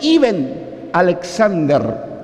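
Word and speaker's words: Eben Alexander: podéis ver la historia se escribe en alexander y se pronuncia y ben alexander neurocirujano de la universidad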